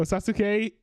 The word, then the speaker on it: Sasuke: Oh, Sasuke.